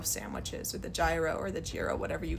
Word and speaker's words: gyro: Almost like the euro sandwiches or the gyro or the giro, whatever you guys call it. Euro is actually how it's pronounced.